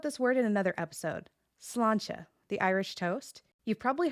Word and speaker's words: sláinte: The slán part has a fada, which lengthens that vowel. The end has a slender consonant cluster. Put it together and you get sláinte.